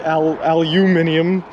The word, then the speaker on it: aluminium: Why you guys pronounce it aluminium and we pronounce it aluminum.